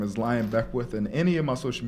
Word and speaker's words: Lyon Beckwith: China is spelled Chyna. My name is Lyon Beckwith, and any of my social media, you can